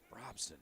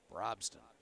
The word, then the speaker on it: Brobston: the fourth team foul Robson boy I'm sorry I keep mispronouncing her name brobston fourth personal or fourth